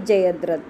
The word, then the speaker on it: जयद्रथ: देखो जयत प्लस रथ शब्द बनता है जयद्रथ, यानी त का द उच्चारण हो जाता है।